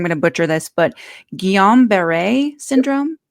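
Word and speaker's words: Guillain-Barré: to butcher this but gon Beret syndrome that's how I pronounce it guon or gilan Beret you depend on what you're from and I'm finding um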